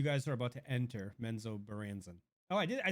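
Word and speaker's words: Menzoberranzan: You guys are about to enter Menzo Baranzan.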